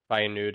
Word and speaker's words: Feyenoord: Did I even pronounce that right? Yeah, Feyenoord, close enough.